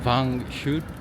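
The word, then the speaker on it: vin chaud: 그러니까 일부러 그 사람한테 발음을 물어봤거든. 방 방 어 방슛. 방 그까 우리는 방 뱅쇼라고 하잖아. 그게 방 어 원래 방근인데 그거를 처음에 그걸 가르쳐온 사람이 바른 표기를 뱅으로 했대.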